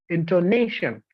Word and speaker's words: intonation: So in this word, the stress is on ne, intonation. It's not intonation, right?